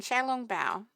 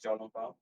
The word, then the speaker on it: xiao long bao: so I I believe I believe I use Mandarin pronunciation when you're saying Shong B Shong b i no mind's sh sound Shia I think Shia okay I I do the more sdh xia yeah sha long B so I I think